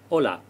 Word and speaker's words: hola: it pronunciation as well hola you'll have noticed that the h is silent in spanish next we have buenos